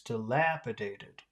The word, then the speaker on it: dilapidated: passed a dilapidated Barn okay dilapidated not dilap dilapidated it's dilapidated okay dilapidated dilapitated we passed